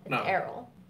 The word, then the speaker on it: Erroll: you spell it Erol people say Earl it's not Earl Errol that was a problem